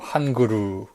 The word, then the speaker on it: Hun-Gurrr: 일본에서는 일본식으로 이걸 읽어서 이걸 헝거로 안 읽고 한그루라고 읽어요. 한그루. 한글이 있지 않습니까? 우리나라의 언어요. 언어가 아니라 우리나라의 문자야. 문자 한글. 그 한글을 일본에서 한그루라고 하는데, 그 한그루를 길게 뺀, 그 루를 길게 발음하는 거죠. 한그루인 거죠.